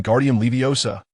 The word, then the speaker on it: Wingardium Leviosa: It's when guardium leviosa the gar needs to be pronounced long and clear demonstrating with her wand.